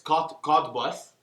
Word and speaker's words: Cottbus: It almost sounds like Cotton Buds, but it's Cottbus.